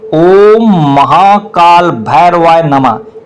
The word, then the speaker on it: ओम महाकाल भैरवाय नमः: मंत्र का उच्चारण जैसे आप काल भैरव का जाप कर रहे हैं। ओम महाकाल भैरवाय तो आपको ऐसा बोलना है। ओम महाकाल भैरवाय नमः इस प्रकार शुद्ध उच्चारण रखें।